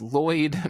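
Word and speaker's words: Loid: where um i think his name is lloyd but it's spelled l-o-i-d which is very interesting spelling of lloyd um is about to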